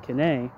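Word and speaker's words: Quesnay: in classical political economy starting with uh franois K whose name is spelled q s n a y ending with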